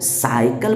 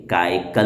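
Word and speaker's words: cycle: बल्कि सीन वाला होगा, इसलिए इसको साइकिल पढ़ेंगे, काइकल नहीं पढ़ देना भाई, वरना बड़ा गड़बड़ होगा। काइकल नहीं, साइकिल पढ़ना है।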